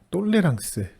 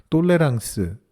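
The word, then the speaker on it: tolérance: 아멘 철학 용어 중에 똘레랑스와 앵똘레랑스라고 하는 단어가 있습니다 좀 익숙하지는 않으실 수 있는데요 영어의 톨루런스와 인톨로런스를 불어 발음으로 발음한 것입니다 우리말로 번역한다면 관용과 불관용이라고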